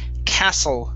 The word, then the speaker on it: castle: And our last one, I believe, yep, is the word castle. Okay, the T is silent.